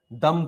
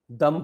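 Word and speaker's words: Duqm: Air strip and दम port, Q is silent here. Air strip and दम port, Q is silent in Oman. Airstrip and dum port in Oman.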